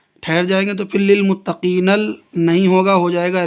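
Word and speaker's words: للمتقين: گے سانس لیں گے۔ اصل میں یہ تھا نون کو جب ہم اس سے ملا دیں، اگر ہم یہاں نہیں رکیں گے آیت نہیں کریں گے تو پھر ہجے اس طرح کریں گے، نون لام زبر نل، للمتقین، نل ہو جائے گا، للمتقین جب ملا کے پڑھیں گے، لیکن ہم نے کہہ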